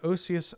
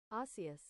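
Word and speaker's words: Osseous: people come in because this is how Yanks pronounce it OAS nope not doing that OAS osus there we go uh 2 minut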